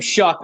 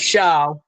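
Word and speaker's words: Shough: That's how you say his name, Shuck, instead of Shaw. Like Shuck and Oyster.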